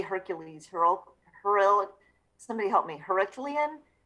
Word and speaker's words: Herculean: Herculean? Herculean. I can't do any better than you. I know, I got us all messed up. Come on, Gary, you're a Toastmaster. Herculean.